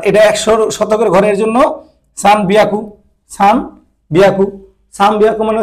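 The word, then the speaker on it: さんびゃく: ক্ষেত্র বিশেষে ম আসে, এই যেখানে একটা মর মতো উচ্চারণ আসে, সামবিয়াকু, সামবিয়াকু। এনের উচ্চারণ বললেও সমস্যা নাই, যদি এনের উচ্চারণও বলেন সমস্যা নাই, সানবিয়াকু।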